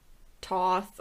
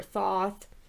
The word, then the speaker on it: Thoth: Egyptians believed that the god, some pronunciations differ. People say it as either Toth or Thoth.